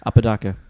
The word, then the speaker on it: Apodaca: in it is it am i saying it right apodaca yes say it when you're